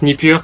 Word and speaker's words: Nipper: we are joined by Nipper. Is that how you pronounce it? Is supposed to be pronounced in French. It's supposed to be pronounced Nipur, but it's kind of hard to pronounce for Nipur.